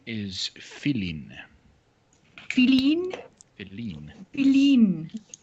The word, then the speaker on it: Feline: Feline. With the accent on the I.